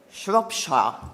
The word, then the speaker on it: Shropshire: Sempre in Gran Bretagna, a Telford, è scoppiato uno scandalo pazzesco nella contea dello Shropshire, si pronuncia così, ho guardato.